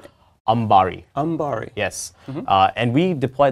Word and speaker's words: Ambari: Ambari.